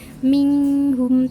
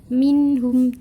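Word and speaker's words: منهم: halqi cara membacanya secara jelas bukan minghun tapi Minggu minhum jelas ya cara membacanya kemudian contoh yang kedua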